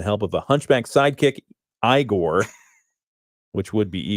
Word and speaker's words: Igor: Transylvania with the help of a hunchback sidekick igore which would be eigor normally but it's Igor and a leggy lab